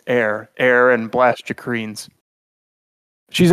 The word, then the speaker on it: Aether: She works with something called I want to say Aether, but it's Air. Blastia. Blastia comes from. She explains this all. Yeah, Blastia. Yeah, it's pronounced Air.